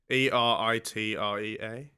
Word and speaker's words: Eritrea: Maybe that's 5 nights in my Eritrea.